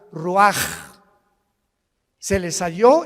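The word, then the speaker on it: רוח: Y exhaló Isaac el roach, así como suena. Se pronuncia la ch en hebreo como J. Roaj, se le haó y se traduce espíritu.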